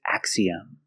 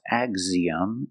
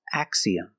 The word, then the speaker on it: axiom: All of these have an X between vowels that is pronounced with the voiceless x sound.